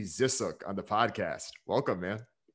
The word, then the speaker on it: Zisook: to follow on twitter we got brian z zissook on the podcast welcome man dan thank you so much and uh you pronounce my last name correctly which no one